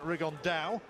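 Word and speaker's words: Rigondeaux: fighting rigond though or as he's correctly pronounced with the uh the Spanish accent rig on Dow and so two absolute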